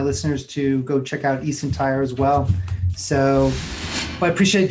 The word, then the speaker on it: eSentire: And you work with, how do you pronounce the name of the company? eSentire, right? Yes, eSentire.